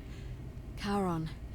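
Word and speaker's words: Charon: it's just as you described it only your pronunciation is a little off the name you heard wasn't Karen it was c h a r o n karen the ferryman the ferryman of the Dead karon who in exchange for the right coin helps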